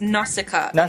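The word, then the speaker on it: Nausicaä: Natika or it's it's it's pronounced Nasika English. Okay. Nasika.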